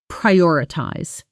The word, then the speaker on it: prioritize: native speaker just says prioritize. Notice the stress pri I ties. The emphasis landing on that second syllable. O r. Slow. Pry or i ties.